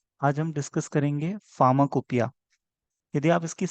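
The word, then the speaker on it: pharmacopoeia: यदि आप इसकी स्पेलिंग पे गौर फरमाएंगे तो देखेंगे कि ये फार्माकोपोइया लिखा हुआ है। ठीक है, लेकिन इसको फार्माकोपोइया कोई नहीं पढ़ेगा, इसको पढ़ेंगे फार्माकोपिया। ठीक है, ये ग्रीक वर्ड से आया है।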